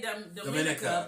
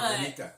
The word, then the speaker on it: Dominica: And there's Remy from Dominica, yes. Is how he pronounced it. We would say Dominica because Dominican Republic. But Dominica.